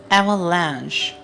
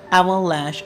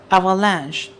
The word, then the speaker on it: avalanche: The correct pronunciation is avalanche. Mostly people call this word avalanche or avalanche. Those are incorrect. The correct pronunciation is avalanche.